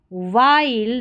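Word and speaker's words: while: ंस decisions R ए आर इ R small वाइल डब्ल्यू एच आई एल ई को वाइल पढ़ना है विल नहीं पढ़ेंगे वाइल others others O टी एच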